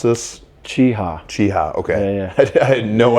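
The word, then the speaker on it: Cheaha: How do you pronounce this? Cheeha.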